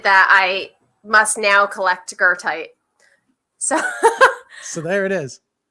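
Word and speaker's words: goethite: my favorite this is this is called gertite which is so fun because it's not spelled this the way it looks did i say that right it's spelled very differently than how you would think it's g o e g-o-e-t-h-i-t so i think that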